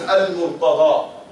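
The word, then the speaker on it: المرتضى: Murtaza is how we pronounce in Urdu, Punjabi. But in Arabic is al-Murtada. Ali al-Murtada, the chosen Ali.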